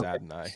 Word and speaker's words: Adonai: say this one Jake is it Adonai Mitchell is that right it is it is Adonai yep I keep hearing Bucky